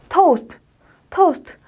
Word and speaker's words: toast: T는 T, S는 S, T는 T, toast. 아침에 빵 구워 먹잖아요. 그걸 toast라고 하죠. 발음은 토스트 아니에요. toast라고 하시면 될 거예요.